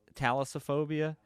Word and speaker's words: thalassophobia: Thalassophobia.